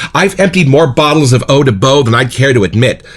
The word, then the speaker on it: Eau de Beau: to Eau de Beau by L'Octane and Provence, pronounced Eau de Beau.